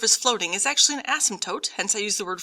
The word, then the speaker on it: asymptote: floating is actually an asymptote hence i use the word floating please understand the word asymptote is spelled with one s it is not a bad word and yes the p is silent and you will have